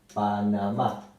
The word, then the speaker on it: Panamá: Y bueno, también podemos incluir a Panamá. Se acentúa en la última sílaba y termina en vocal. Entonces lleva tilde.